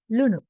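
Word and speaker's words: ලූනු: Lunu and lunu. Lunu with a long lu is onions.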